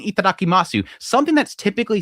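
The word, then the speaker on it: いただきます: Maybe it's me being a snob, but it's itadakimasu, not itadakimasu. The su is silent. You just say itadakimasu. A lot of the times the U is silent, especially if it's paired with an S.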